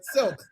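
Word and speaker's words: SILC: stories In Living Color silk not slick silk I always say it wrong stories In Living Color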